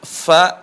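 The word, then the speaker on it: ف: di situ ada huruf Fa sukun atau huruf Fa Di mana tempat keluar huruf FA bisa dilihat kamera ujung lisan Maaf ujung gigi seri atas bertemu dengan bibir bawah perhatikan Fa he Fi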